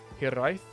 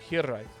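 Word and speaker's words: hiraeth: Softer roll in the R and more emphasis on the first syllable, so like hiraith? No, hiraith.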